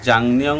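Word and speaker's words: 작년: খোয়াজাং বলতেছে যে ঝাংনিয়ং মানে হচ্ছে জাংনিয়ং উচ্চারণ হচ্ছে, যদি গিয়ক বা চিমের উপরে নিয়ন আসে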